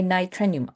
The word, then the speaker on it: nitrenium: How do you pronounce it? A nitrenium.